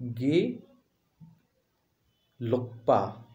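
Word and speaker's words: Gelugpa: तो आप देखेंगे ये हैं किसके, एक गेलुगपा, प्रोनाउंस में बड़ा बोल कठिन नाम, इस तरह के कठिन नाम रखते हैं, गे ग्रे नहीं, गे लुकपा, ठीक है, यानी कि डी ऑप्शन आपका सही है।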